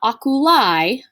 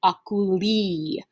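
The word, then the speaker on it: oculi: word is pronounced not akulai right this word is pronounced akuli remember our long i in latin is pronounced e so keep that in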